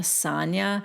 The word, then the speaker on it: Sonja: than this side note ebony pronounces sonia sanya so at least she's got